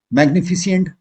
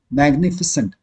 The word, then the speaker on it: magnificent: मैग्निफिसेंट, मैग्निफिशिएंट नहीं बोलते हैं, हाँ, मैग्निफिशेंट भी नहीं बोलते हैं, मैग्निफिसेंट।